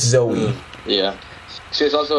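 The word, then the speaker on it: Zooey: man with Jim Carrey Jovi is Joey and it's Zoe yeah she's also like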